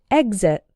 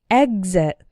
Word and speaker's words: exit: There's one word that doesn't seem to follow the rule, and that is the word exit. The X is followed by a vowel sound, but the first syllable is the strong one, exit. But we still pronounce the X like gz, exit. This word appears to be an exception to the general rule.